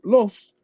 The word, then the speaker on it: Lusa: So although Lusa is the general Choctaw word for black, and it's pronounced Los in isolation, black wolf in Nashoba, Lusa in Choctaw.